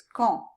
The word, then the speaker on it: quand: This is actually silent in this case, quand.